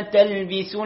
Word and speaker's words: تلبسوا: ولا تلبسوا الحق بالباطل. كلمة تلبسوا، الباء ننتبه أن نكسرها، نأتي بها مكسورة، ولا تلبي بي تلبسوا.